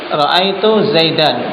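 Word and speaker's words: زيدًا: contohnya ikhwan roaitu zaid Zaidan ketika kita mau wakaf menjadi apa? Tidak roaitu zaid. Tidak. Tapi apa? Dannya diganti menjadi apa? Alif. Tanwin pada zaidan diganti menjadi alif.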